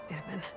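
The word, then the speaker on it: Itamen: You said it fine, Itamin.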